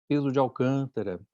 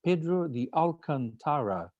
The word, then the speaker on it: Pedro de Alcantara: In the Brazilians, with the way we talk, I'm from Brazil, I would say my name is Pedro de Alcantara, like this.